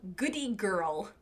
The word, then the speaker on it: Goodie Girl: it's called goodie girl nope didn't say that right it's called goodie girl and goodie is spelled IE goody girl um it's